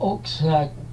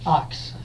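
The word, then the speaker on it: Ochs: Pickwick, and it's Phil Oak's Greatest Hits, or Ox, I think it's pronounced. So, and next is a Phase 4 record.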